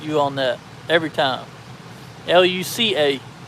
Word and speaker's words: Luca: L U C A, not K A. Watch the Disney movie Luca.